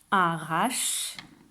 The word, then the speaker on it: arrache: Arrache, arrache. Ça fait 2 syllabes, alors que quand on écrit, il y a bien 3 syllabes.